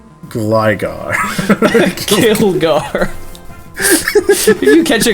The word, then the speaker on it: Gligar: Gilgar. Did you just say Gilgar? Gligar.